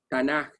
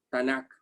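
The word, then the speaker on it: תנ״ך: profetas, y de Ketubim, aunque se escribe con K, por su palabra en hebreo, realmente se pronuncia es Tanaj, no Tanakh.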